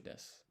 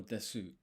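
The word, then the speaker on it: です: So, isogashi nichijou kara no shizuka no tohi basho desu. Not pronouncing this U at the end, apparently.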